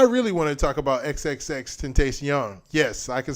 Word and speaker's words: XXXTentacion: music festival I really want to talk about XXX ten taste young yes I can say it right and for